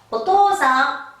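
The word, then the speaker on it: お父さん: 자, 아버지라는 단어인데 발음을 길게 빼기 때문에 오토상이 돼요. 여러분이 그 애니메이션이나 드라마에서 아버지라는 발음을 들을 때 오토상 못 들어봤죠? 길게 뺍니다. 오토상, 도장이라고 하죠.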